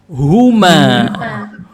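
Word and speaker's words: هما: untuk yang jumlahnya dua untuk yang jumlahnya dua Bacanya apa ini Huma Huma laki-laki dan perempuan sama sama-sama Huma coba diucapkan Huma Huma Oke Huma Baik nanti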